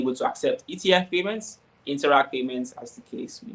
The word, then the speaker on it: Interac: You also have Interac. Now, Interac is spelled interact, but take out the T at the end, and you have Interac.